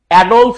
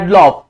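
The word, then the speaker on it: Adolf: ডলফ Hitler. আমরা কিন্তু বলি ডলভ। নট ডলভ। কি হবে? ডলফ Hitler.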